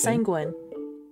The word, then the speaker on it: sanguine: It's pronounced sanguine.